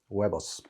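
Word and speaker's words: huevos: eggs so eggs webers you would never guess it from looking at the word h-e-r-v webis um so that's why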